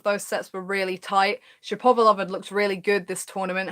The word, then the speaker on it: Shapovalov: gonna pronounce it wrong I call him Dennis Shapovalov he told me is Dennis Shepard velov but you know if